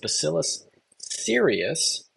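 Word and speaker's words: Bacillus cereus: For this bacteria, it's pronounced basillus serius. And you can remember this one because it's very serious because when you heat it up, it doesn't kill the spores.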